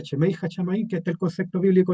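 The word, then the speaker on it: שמי השמים: Aquí se se pronuncia chemei chamaí, que está el concepto bíblico original, pero en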